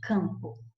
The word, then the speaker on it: campo: Veja bem, quando eu falo campo, você tem campo, separando a sílaba, para ficar melhor para você observar, que você não pronuncia a letra M. Você só pronuncia a letra M ou N quando elas estão começando sílabas. Por exemplo, amigo, mi. Aí eu pronunciei o M. Anel, nel. Aí eu pronunciei o N.